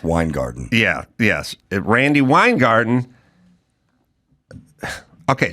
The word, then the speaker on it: Weingarten: is pronounced Weingarten.